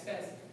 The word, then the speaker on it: Fez: Is it Fez? F-E-C? Am I pronouncing that correctly? Yeah, Fez. Yeah, it's Fez.